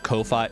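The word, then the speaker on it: Ko-fi: I guess it would just be coffee cuz it's like the whole idea is like send me money to buy me a coffee.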